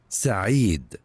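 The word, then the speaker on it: Saee: Finally, two years in, I'll finally get to know how to pronounce your name correctly. Say. So it should be say s a e e d u h say can't believe you found this.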